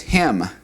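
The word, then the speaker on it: הם: And then the he or they masculine plurals, meaning they, talking to about a group of men, is hem, hem, like the hem of a garment.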